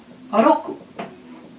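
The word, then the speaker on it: ろく: Roku. N'oubliez pas, toujours R, loku, hein, vraiment. L.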